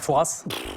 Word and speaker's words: Fouras: îles mon candidat alors les puristes les plus riches ne prononce pas de s père fouras bon alors tout le monde doit donner à romain tout le monde dit père fouras mais en fait quand on demande au père fouras parce que j'ai eu l'occasion de rencontrer quelques fois quand même et bien en fait et voilà il précise que le s ne se prononce pas mais est très peu